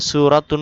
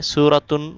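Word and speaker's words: سورة: শুনিয়ে দিতেন সূরা এখানে সূরাতুন আছে সূরাতুন উচ্চারণ হবে না সূরা সূরা বলতে হবে আয়াত ইয়া সূরা শুনা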